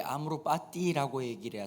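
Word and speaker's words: amor fati: 그 아모르 파티가 아니고요, 그게 아모르 파티라고 얘기를 해야 정확한 발음입니다.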